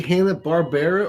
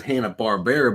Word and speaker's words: Hanna-Barbera: right hanna-barbera me to everyone says hanna-barbera but it is like Barbara it's like one of